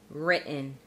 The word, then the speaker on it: written: We use the glottal stop or glottal T when we have a T at the end of a syllable and then the next syllable is a syllabic N.